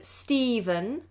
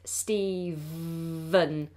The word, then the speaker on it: Stephen: sentence is the name Stephen Stephen and this has a pH spelling sometimes it's spelled with a V but whether it's pH or V we pronounce it Stephen with a V Stephen Stephen said something